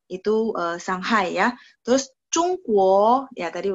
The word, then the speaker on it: Shanghai: enggak masalah ya shanghai cuman bacanya adalah song-song bukan siang no saya sering banget dengarnya siang bukan siang tapi sang shanghai itu shanghai ya terus cungkuo ya